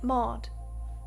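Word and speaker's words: Maud: to to meet her her name is mod mod mod spell it for me m a u d mod okay let I don't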